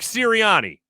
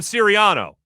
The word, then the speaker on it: Sirianni: Nick Sirianni. Did I say it wrong? You're going Siriano. It's a totally different Italian family.